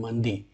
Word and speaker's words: मंदी: एक का नाम है गुलिक और एक का नाम है मंदी, जिसे कुछ लोग मांदी भी कहते हैं। ये प्रोनाउंसिएशन का फ़र्क है, यानी कि गुलिक और मांदी।